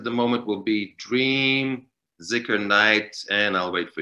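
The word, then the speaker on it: dhikr: uh zicker knight and zikr is a is spelled d-h-i-k-r but pronounced like it means remembrance of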